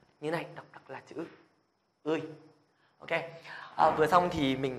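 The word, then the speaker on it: ㅢ: Rồi, cũng giống như là trong tiếng Việt, như các bạn phát âm nhá, thì tiếng Hàn cũng sẽ phát âm là Ươi nhá. Ươi.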